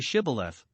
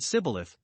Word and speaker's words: shibboleth: but he denied it they made him say shibboleth but either he could not as our translation reads it or he did not not heed or frame or direct himself as some read to pronounce it a right but said sybileth and so was known to be an ephraimite and was slain immediately